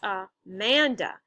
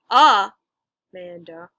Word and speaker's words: Amanda: Think of the word Amanda. Amanda. That's 3 different syllables. And the second syllable is stressed. It's Amanda, not Amanda or Amanda, right?